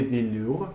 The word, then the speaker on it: velours: On utilise des matériaux comme les marbres, les velours. So you can see you can see those two letters, right? Whenever you see them, you just pronounce ou.